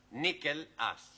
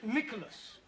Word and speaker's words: Nicholas: Once upon a time, there was a man called Nickel Ass. It's not quite right. No? No. Once upon a time, there was a woman called Nickel Ass. It's pronounced Nicholas.